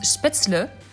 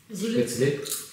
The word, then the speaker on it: Spätzle: En rentrant, mes amis alsaciens ont essayé d'expliquer à ma mère comment on prononce Spätzle. Z-E-L, tu dis elle. Mais Z-L-E, Z-L. Spätzle.